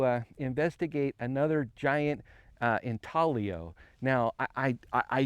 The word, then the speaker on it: intaglio: you say the word in talio it's Italian the g is silent I got it so we're out here to investigate um another giant intalo or geoglyph uh that